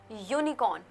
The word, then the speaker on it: unicorn: Now this one you can see it is a unicorn. Although it starts with a vowel, it does not start with a wobble sound. Unicorn. It sounds like you like it sounded in the university.